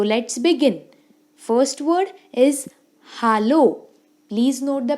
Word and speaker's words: hallo: First word is hallo. Please note the pronunciation very carefully. It's hallo, which means hello.